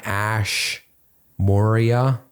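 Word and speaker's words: Ash Maurya: And another book I'd recommend as well is Running Lean by Ash Moria.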